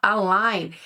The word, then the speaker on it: align: O align, que se escreve meio esquisito, mas se fala align, é o alinhamento.